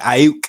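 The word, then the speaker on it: Aiyuk: I can never say his name. Ayuk, Brandon yeah, Ayuk. yeah, Ayuk. That is his name.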